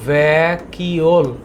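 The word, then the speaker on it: vacuole: শব্দটা হচ্ছে খালি গভর উচ্চারণটা কি উচ্চারণটা হচ্ছে ভ্যাকিওল তোমরা আমার সাথে একটু উচ্চারণ করো ভ্যাকিওল আরটা হচ্ছে টনোপ্লাস্ট টনোপ্লাস্ট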